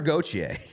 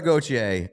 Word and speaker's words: Gauthier: cutter goer we've learned we've learned how to pronounce that one months ago but cutter goer uh has signed with